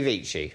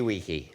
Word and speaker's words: vici: Veni, vidi, vici. Oh. Or Veni, vidi, wiki. Yes. Depending on how you pronounce it.